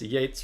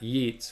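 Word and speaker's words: Yeats: the famous Irish poet so it's Yates rhyming with Gates not yeets rhyming with uh beats right exactly Gates rhyming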